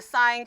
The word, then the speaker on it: sine: This is sine, cosine, and tangent. It is not sin, cos, and tan, all right?